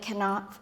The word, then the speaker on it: Knopf: To Kiera Kent, my editor at Knopf Canada, where they pronounce the K.